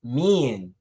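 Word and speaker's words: mien: Our word of the day is pronounced as mean and is spelled M-I-E-N, mean.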